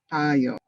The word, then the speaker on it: tayo: Remember, if the accent is on the first tayo, that means you're standing up.